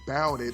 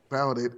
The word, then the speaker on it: bouted: It is because of grammar that I learned that bouted rhymes with rowdy. I did not know that about bouted and rowdy rhymed.